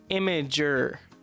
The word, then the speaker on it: Imager: pronounce your name countless amager is pronounced imager the name comes from her and the extension IMG your image so it's immature well